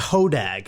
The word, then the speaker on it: Hodag: gut piles i think it's it's it's actually pronounced hodag is how it's actually oh right my bad